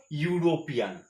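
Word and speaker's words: European: ইটা vowel হওয়ার কথা ছিল অ্যান, কিন্তু এই ইউরোপিয়ানের উচ্চারণটা কেমন, ইউরোপিয়ান, ওই ইউর উচ্চারণ চলে আসছে, তাহলে ইউর ওয়াই হচ্ছে কনসোনেন্ট, এই জন্য এখানে হলো এ।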